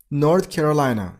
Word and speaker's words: North Carolina: North Carolina. You got a stress on the last sy level.